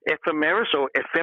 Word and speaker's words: ephemeris: I had all my ephemeris, I'm not quite sure how you pronounce that word, but all the little, ephemeris, thank you, what was in the sky at a certain time when I was born.